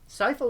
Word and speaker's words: Sypha: I thought it was Sypha. Sypha was how they pronounced it in the Netflix series.